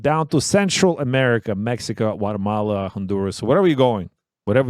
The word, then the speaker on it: Guatemala: the lovely country of Guatemala which they pronounce it Guatemala there's no G and uh Guatemala has